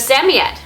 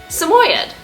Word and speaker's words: Samoyed: So there's Sammy Ed. There's also Samoyed. Samoyed is a very common pronunciation, and it's absolutely perfectly fine to pronounce their name as Samoyed. Many of our viewers pronounce their name as that, and just depending on where in the world you're from, that may be the way that you're familiar with it.